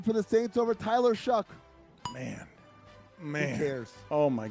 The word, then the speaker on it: Shough: He spells it Shough, but I have to Google how you say it. You say it Shuck. I was like, is it Shuff or Show? And they're like, Shuck.